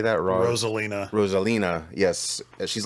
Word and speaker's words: Rosalina: Rosalina.